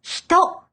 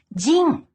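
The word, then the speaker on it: 人: By itself, it's read hito, which is the word for person. Hito. Hito. This kanji is also used in words like Nihonjin and Amerikajin. Attached directly after a country name, it's pronounced jin.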